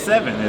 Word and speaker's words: Sevyn: with Mr seven so I feel like I was pronouncing your name right like yeah it's seven okay what first of